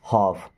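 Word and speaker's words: half: give me हाफ देखिए यहां पर एल साइलेंट होता है ना लफ नहीं पढ़ेंगे हाफ क्या पढ़ते हैं हाफ ऐसे हाफ okay give me हाफ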